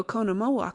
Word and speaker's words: Oconomowoc: Accent on second syllable. The only trouble is when you write it. You never know where to stop. Well, so she is going to Oconomowoc later to stay through July.